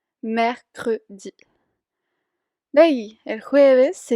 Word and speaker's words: mercredi: De ahí miércoles se dice mercredi, mercredi.